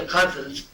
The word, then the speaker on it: ghazal: It's called the ghazals, spelled Ghazal. It's been mispronounced and misunderstood and mispracticed by many American poets, chiefly people like Adrian Rich and Jim Harrison.